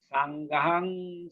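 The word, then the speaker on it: Saṅghaṃ: Sanghang Saranang Gacchami. Remember, M with the dot is pronounced as NG. Okay?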